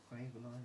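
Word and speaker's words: Kryvaline: Craveline over FX Diamond. I honestly prefer FX, so Craveline is much more expensive.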